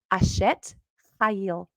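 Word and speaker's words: אשת חיל: And here's how they say it: eshet, chayil. eshet, chayil, chayil. It's kind of fun to say. Eshet, chayil. You got to say, ha, ha, get it in there.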